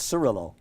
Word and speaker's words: Cirillo: Cirillo, yeah, it's Cirillo. Cirillo, because my grandmother used to be Cirilla, you see? Same so thing. It's a Italian, connection the there. C is pronounced chi, right?